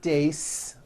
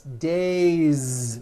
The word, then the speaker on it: days: day or two days it's not days on voice it's days with a voiced z ending next one shoe one